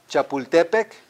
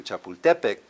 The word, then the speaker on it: Chapultepec: You know, the way it's supposed to be pronounced, huh? Everyone, Teotihuacan, as opposed to what? Teotihuacan. Chapultepec, as opposed to what?